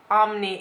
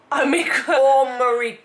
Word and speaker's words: Omicron: It's not Omni, it's. Am I still saying it wrong? Omicron.